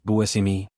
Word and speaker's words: Buscemi: He explained that in his family, the name was always pronounced Buimi, but he never corrected the media or fans because he didn't want to seem pedantic.